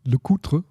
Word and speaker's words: LeCoultre: Jaeger LeCoultre. No, LeCoultre. The L is silent.